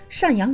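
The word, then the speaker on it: 赡养: 当今党魁老大在一次会议上把法律规定的赡养老人读成瞻养老人，不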